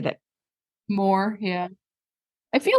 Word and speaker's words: Moher: Moher, yeah.